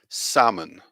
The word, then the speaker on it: salmon: here okay so here we have francai the pronunciation salmon salmon we can see the different vowel sounds